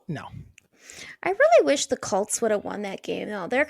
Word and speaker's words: Colts: I say Colt. Like cold. Say cold. Cold. Now do that as tss at the end instead. Colts. That's how you say it.